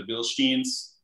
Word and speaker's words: Bilstein: I highly recommend the Sasquatch upgrade with the 35-inch tires and the Bilsteins.